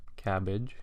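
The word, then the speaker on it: CABG: coronary artery bypass grafts or cabbage as the acronym sort of allows us to pronounce it cabbage is is really only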